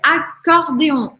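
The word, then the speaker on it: accordéon: Eu pronuncio só um sem acordeon, sim, não tem nem como você pronunciar dois Cs, tá? É acordeon, acordeon.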